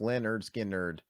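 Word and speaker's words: Lynyrd Skynyrd: Oh wow, yeah, pronounced Leonard Skinner.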